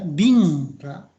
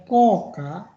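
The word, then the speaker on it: 硬貨: Kemudian ada tadi ya bingka. Bukan bingka, bacanya koka.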